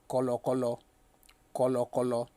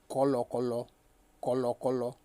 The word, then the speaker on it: kọ̀lọ̀kọ̀lọ̀: to all other ones, is pronounced kọ̀lọ̀kọ̀lọ̀. That is, for something to be muddy or merry. You can call it muddy, you can call it merry. Kọ̀lọ̀kọ̀lọ̀. The intonation on this is re, and that is when